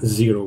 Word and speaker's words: Xero: Turner, and our company account is at Xero, which is X-E-R-O, as I said at the beginning. Great idea, really cool name, come up with a brand that's not phonetically spelled as it sounds, but when you put